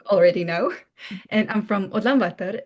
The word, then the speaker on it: Ulaanbaatar: Oh my God, but the pronunciation was so nice. Ulaanbaatar.